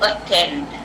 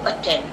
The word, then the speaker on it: attend: So attend. Now we do not pronounce this other T. There are A-T-T-E-N-D right here, but we only pronounce one T, attend.